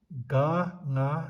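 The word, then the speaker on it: གངས: Ga, nga, sa, kang. Every time you see ga, nga, sa, kang should be pronounced as gang, and the meaning of the word kang is snow.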